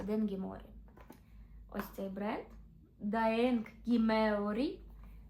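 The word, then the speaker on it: Daeng Gi Meo Ri: Ми не могли залишити клієнтів без того самого бренду, який ніхто не знає, як правильно читається, але я вам скажу, він читається Ден морі.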